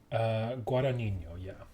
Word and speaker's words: Guadagnino: It was directed by Luca Guadagnino. Oh, sure. Is that how you say his name? I believe you would probably say it. I need to look at it. Wait, that's the painting. Guadagnino? Guadagnino, yeah.